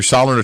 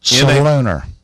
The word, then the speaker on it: Solunar: what app do you use to get your Soliner tables and stuff like that? Which app are you pulling? What kind of tables? Soliner. Soliner tables. Do you know how to spell that? SOLUNR. Solunar.